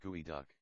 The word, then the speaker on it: geoduck: succulent of all Seafood jodu by the way is pronounced by the Indian gooey duck I had heard all